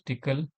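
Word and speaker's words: Tcl: So it is pronounced as tickle uh tool command language.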